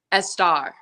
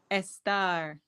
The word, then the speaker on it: Estar: I realized that Esther, the etymology of it is stara, which is Persian. And I said, what if I call myself a star? So that's Yeah. why I pronounce it that way.